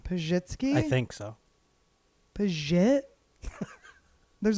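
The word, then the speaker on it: Pazsitzky: like, I never thought there'd be a zhuzh sound in it. It's a S and a Z together.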